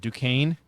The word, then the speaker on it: Duquesne: Duquesne, yeah.